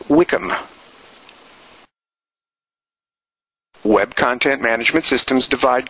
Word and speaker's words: WCM: sometimes referred to by its acronym wcm that is pronounced as Wickam web content Management Systems